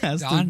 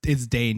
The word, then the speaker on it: Dane: So Walmart Dan DeHaan has to Don give DeHaan? Isn't it Dane Yeah. DeHaan, or you pronounce it Da- properly? oh no, it's Dane. You're right. It's Dane.